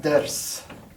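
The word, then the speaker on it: درس: And this is better pronounced ders.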